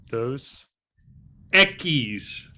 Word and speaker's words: Dos Equis: Dos Dos Equis.